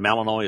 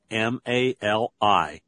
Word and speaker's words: Malinois: And Malinois is spelled M-A-L-I-N-O-I-S, Malinois.